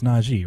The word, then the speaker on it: Najee Harris: know i'm listening is it najee harris it's najib right okay yeah the last caller scared me that i was pronouncing it wrong this whole time and i